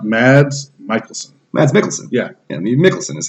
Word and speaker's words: Mikkelsen: Mikkelsen is how you say his name.